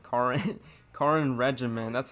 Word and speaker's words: Karin: Kirin. Karin. Karin Regiment.